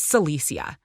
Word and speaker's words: Silesia: got my name wrong that's not my name it's silesia came my quick reply